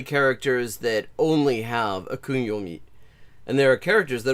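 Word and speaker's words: 訓読み: know anything about this, because listen to that pronunciation, onyomi and kunyomi. That is, like, literally none of that is a sound that is resembles the Japanese pronunciation onyomi, kunyomi.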